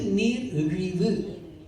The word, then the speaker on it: நீர் இழிவு: என்பது டயாபடீஸ் அதற்கு தமிழ்ல நீர் இழிவு நோய் நீர் எழிவு நோய் இந்த யானது எங்க யாழ்பான இலங்கை தமிழர் பற பாடு இருக்குது சரியான உச்சரிப்பு நீர் எழிவு யாழ்பானம் இதான் சரியான சரியான உச்சரிப்பு அப்ப இந்த நீர் எழிவு